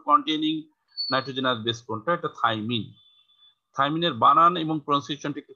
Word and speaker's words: থাইমিন: আর থাইমিন 2,4 2 এর জায়গায় oxygen R 5 A methyl, তাহলে 2,4 মিথাইল, 2,4 অক্সি, 5 মিথাইল পাইরিমিডিন।